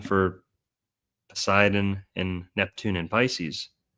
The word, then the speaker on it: Pisces: And here's probably the most compelling one for Poseidon and Neptune and Pisces. The silent P words. Pisces. Psyche. Psychedelic. Psychology. All these silent P words go back to Poseidon.